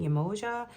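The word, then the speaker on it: Yemoja: I'm also hearing Emoja. It's one way to pronounce it.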